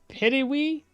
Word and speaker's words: Pitohui: The Pitohu, which is pronounced Pitiwi? Pitiwi? Pitiwi? Pit-you... Is Y-E or is it I? Pitiwi? Pitiwi? I think it's Pitiwi. Like spitting?